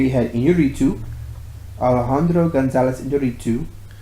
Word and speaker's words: Iñárritu: And you know what's interesting is that so this year you had Iñárritu, Alejandro González Iñárritu. Iñárritu, the accent is on the A. Iñárritu. The previous year was Alfonso Cuarón.